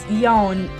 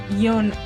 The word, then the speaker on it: Yone: the other day wait it's yawn not Young not young what okay